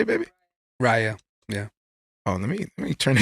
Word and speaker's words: Raya: Raya.